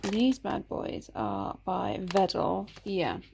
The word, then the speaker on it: Wedel: And these bad boys are by Wedel. Yeah, it's spelled with a W, but it's a Polish brand. So you pronounce it with a V, so it's Wedel.